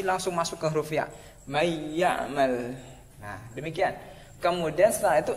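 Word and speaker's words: مَن يَعْمَلْ: Intinya nun mati atau tanwin ketemu dengan salah satu dari 6 huruf ini, maka dibacanya masuk. Akan dibacanya adalah masuk. Contoh ya, contoh satu aja. May ya'mal.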